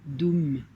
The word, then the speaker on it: dum: c'est vraiment le son un son de base dum d u m deux camps s'inscrit on va prononcer avec son teint dum dum dum dum